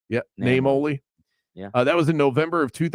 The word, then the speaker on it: Naimoli: He took over from the founding owner, Vince Naimoli, I think is how you pronounce it. Yeah, Naimoli.